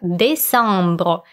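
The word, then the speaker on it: décembre: зимних месяцев и так декабрь звучит по-французски как бей сомбру мы произносим это слово с носовым звуком он следом идет январь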